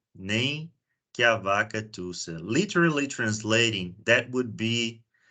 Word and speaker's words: nem que a vaca tussa: We pronounce it nem que a vaca tussa. Nem que a vaca tussa.